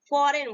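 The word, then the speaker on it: foreign: next example लेते हैं यहां पे फॉरेन ठीक है एन से पहले क्या है जी आया ठीक है जिनको हम जी को साइलेंट राहत है और इसको हम प्रनंसीएशन नहीं करते हैं ये मुख्य होता है हम कैसे बोलेंगे फॉरेन बोलेंगे नेक्स्ट एग्जाम नेक्स्ट देखते हैं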